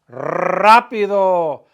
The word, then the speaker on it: rápido: Rápido. Rapidísimo. Roll your R's, right?